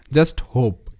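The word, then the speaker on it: hope: ও পি ই এটা হোপ এটার উচ্চারণ তোমরা জানো এখানে কিন্তু লাস্ট ই আছে ই এর সাউন্ড কিন্তু এখানে হচ্ছে না হোপি কিংবা হোপে এরকম সাউন্ড কিন্তু হচ্ছে না জাস্ট হোপ এইচ তে হ ও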